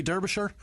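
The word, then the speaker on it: Derbyshire: Uh Anthony Derbisher. Derbasher. I like that. It says Derby, but that's not how you pronounce it.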